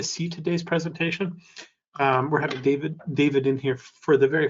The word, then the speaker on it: Dawid: Now, I want to make sure I've got this right, too, because I'm not sure, but I think we just pronounce it David. Yeah, it's David. Yes, that's correct.